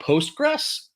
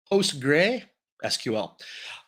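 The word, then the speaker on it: PostgreSQL: see what but yeah so it's post gray sql um the people i worked with they called it postgres i would love to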